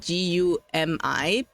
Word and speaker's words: GUMI: Her name's spelled Gumi, but it's pronounced Gumi. Oh. Yeah. But I always call her Gummy because I think it's cuter.